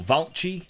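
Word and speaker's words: Vallci: center-back and it's Albert uh velich or valky that's how you say it valky is Austrian he's 29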